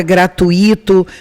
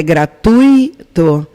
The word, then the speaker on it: gratuito: As mais comuns em concurso é a palavra gratuito, fortuito, intuito, que essa pronúncia que eu fiz agora está com certeza errada. O correto é gratuito, fortuito, intuito.